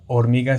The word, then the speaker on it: hormiga: de este lado hormiga pueden darse cuenta que la palabra hormiga se divide en en tres sílabas hormiga dónde En dónde se encuentra justamente la sílaba tónica es exactamente en la sílaba mi vale justamente ahí uno puede notar que la fuerza del sonido es más intensa ahí hormiga vale por